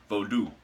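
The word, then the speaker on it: Vodou: low reaching out now when I say vote out I'm specifically referring to vodoo that's how you say it but I say it vote out because that's kind of how I've always said it but the lower or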